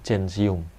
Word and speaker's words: gentium: gigi lumen Hai sensium tulisannya centium gentium bacanya janji UM Hai artikel satu Apa